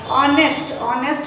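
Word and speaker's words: honest: ऑनेस्ट में भी H silent होता है ओके।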